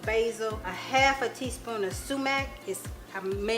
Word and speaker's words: sumac: And then here I have a 1/2 teaspoon of basil, a 1/2 teaspoon of sumac. I may not be pronouncing that right.